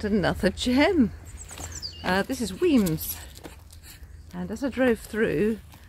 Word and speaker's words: Wemyss: here so uh yes weams where when the way it's spell it looks like we miss so just remember if